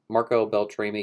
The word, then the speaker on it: Marco Beltrami: that were definitely missing i like that marco marco beltrami came back to score scream for that's how you pronounce his name uh he scored all scream